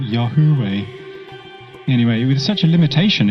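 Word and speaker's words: Yahweh: even to be pronounced but everyone else pronounces it y way although it could actually be something else like Yahoo way anyway with such a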